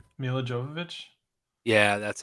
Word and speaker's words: Jovovich: Mila Jovovich. Yeah, that's how you Hmm.